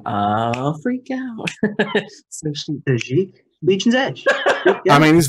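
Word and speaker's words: Tajic: I honestly think Tajik, actually, I think it's the correct pronunciation. Tajik, because he's not tragic, he is Tajik.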